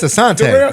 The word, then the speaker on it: Asante: It's, Because I think- I've been saying it wrong. It's my man Asante. Asante.